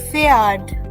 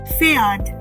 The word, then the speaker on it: Pferd: So this word with P silent and R present will be pronounced as Pferd. Pferd.